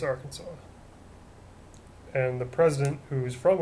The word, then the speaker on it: Arkansas: who I'm talking about from our Kanas it's actually pronounced Arkansas just want to see if